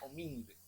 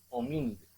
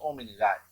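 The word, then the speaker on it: Hominidae: mamalia, filum Chordata, clase mamalia, orden primate, familia homínide, y es importante, ese AE se pronuncia D, homínide, no van a estar diciendo hominidades.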